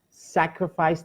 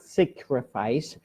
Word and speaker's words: sacrifice: comment here is the word sacrifice sacrifice not sacrifice its sacrifice and the word is especially